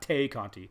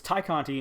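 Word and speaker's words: Tay Conti: and i knew it i knew it was tai conte not tay kanti because tainara is how you pronounce her first name tynera tynara can't even get that right but it's thai conte and it was versus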